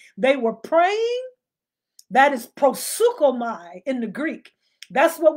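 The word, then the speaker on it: proseuchomai: a prison okay how do you spell what prosuka my you spell it p r o s p r o s e u c h o m a i prosuka my p r o s e u c h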